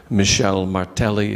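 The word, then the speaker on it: Michel Martelly: were held and they elected a new president Michelle Martelli is how they pronounce it I I don't know how good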